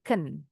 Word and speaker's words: can: Nah, kalau can sudah dalam kalimat bacanya jadi ken.